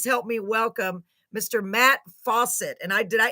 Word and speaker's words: Fawcett: me welcome Mr Matt Fawcett and I did I it is literally pronounced like faucet right Matt yes ma'am